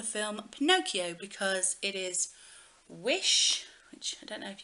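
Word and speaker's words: Whish: So I chose this for the film Pinocchio because it is Wish, which I don't know if you can see it there, but it is spelled W-H-I-S-H, but it is Wish.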